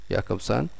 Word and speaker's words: Jakobson: group was roman jakobson it's written with jay but pronounced as yeah jakobson and second group was